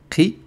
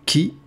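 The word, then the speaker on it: قِ: Ici, je peux mettre une kasra et prononcer Qi, Qi, et non pas Ki, mais c'est ce qui s'approche le plus.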